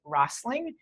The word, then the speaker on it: Rosling: And one thing I do recommend is for people to look at the TED Talk of Ted Rosling, who is a statistician, who is the most brilliant person I know at telling stories with numbers and making them interesting.